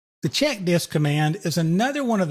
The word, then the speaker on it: CHKDSK: the check disk command is another one of those commands that's been around since the dolls days and notice that i pronounced this check disk and what this little